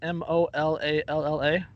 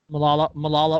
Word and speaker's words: Molalla: Is that how you pronounce it? Mollalla. I'd say Molalla. Sounds right. Molalla, Oregon.